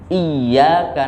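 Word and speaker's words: إِيَّاكَ: Karena ini tidak dibaca panjang, tapi ini dibaca berat karena tasdid. Iyyaka na'budu wa iyyaka nasta'in. Tapi orang seringkali membacanya iya. Artinya ada ya mati. Semestinya tidak iya, tapi iya. Karena yaknya tasdid.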